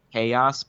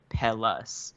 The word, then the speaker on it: Payas: Okay, so I got confirmation that technically it's a Spanish term that's pronounced Payas, but they call it Pellis. Okay. Like that's what everybody calls it. So they said it's okay to say Pellis.